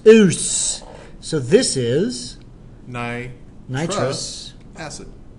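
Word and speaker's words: -ous: not us, US, but O-U-S. it's spelled Oos. O-U-S. Oos.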